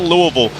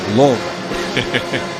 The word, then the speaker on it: Louisville: My son goes to school at Bellarmine University, and Mike, I think the proper way to pronounce it is Louisville. Louisville.